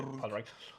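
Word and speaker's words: Pádraic: Enfin, Podrick de façon prononcée française, hein, parce que dans le film il prononce pas Podrick, c'est Podrick. Et Brendan Gleeson qui s'appelle.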